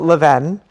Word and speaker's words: Levain: Yeah, we call it Leven.